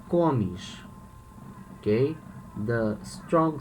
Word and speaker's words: comes: notice here we say komish okay the strong syllable the strongest syllable is the the first komish here we say gomesh the strongest syllable is the last the last one comes third person plural